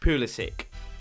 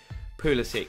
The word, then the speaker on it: Pulisic: This guy caused me a headache because it is pronounced Christian Pulisic.